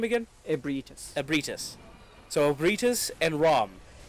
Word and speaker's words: Ebrietas: Ebrietas.